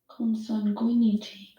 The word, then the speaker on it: consanguinity: Consanguinity. I need to know how to pronounce this.